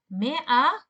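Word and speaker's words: مائة: Me'a. So the spelling is me'a. There is a hamza, and there is also an alif in the spelling of mi'a, but it's not pronounced.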